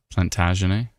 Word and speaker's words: Plantagenet: Plantagenet or Plantagenet. Oh, Plantagenet. And then on the other hand, L'Orignal.